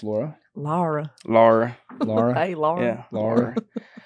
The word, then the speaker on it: Laura: how to say it I think it's laa Laura but it's not Laura because I'm from the south and it's not like Lara so it's somewhere in between what what does if